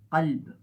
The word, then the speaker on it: قلب: ہیں اور پڑھتے ہیں۔ جو مخرج ہے کیا کا، اس کو ہم حلق کی طرف لے جائیں تو وہ قا ہو جاتا ہے، ٹھیک ہے۔ اس میں بھی جو ہے تلفظ بہت ضروری ہے، اور اس کی میننگ چینج ہو سکتی ہے اگر آپ نے اس کا خیال نہیں رکھا۔ مثال کے طور پہ قلب، قلب عربی میں دل کو کہتے ہیں، ہارٹ، ٹھیک